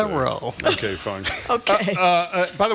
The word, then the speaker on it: Thoreau: Would you not agree, even if the proper pronunciation is Thoreau, what an affectation it sounds like to say that?